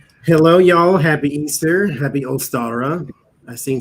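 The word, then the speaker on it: Ishtar: you spell it but that's her name is pronounced easter or ostara if you are german and that's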